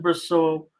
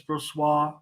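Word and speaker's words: Brossoit: can read hockey games I said Bristol but it's persuas persuas I know it's brussois tell me it's not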